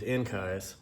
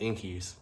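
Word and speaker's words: Enkei: up on these Enkai, which that's kind of hard to pronounce it because growing up these were always called inkies, but then you find out like, oh, the proper pronunciation of things is how you're supposed to say it.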